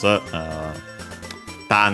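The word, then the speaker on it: 種: Tane accent on the first word means seed.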